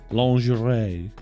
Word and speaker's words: lingerie: best episode behind the lingerie lingerie lingerie that's how you say it it's lingerie behind the lingerie episode